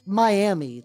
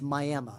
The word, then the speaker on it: Miami: Not Miami. There is a Miami, Texas. It is spelled Miami, but it is by the locals pronounced Miami.